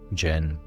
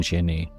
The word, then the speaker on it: jinn: Let's start with the word itself, Jin. Most English speakers say it like jin.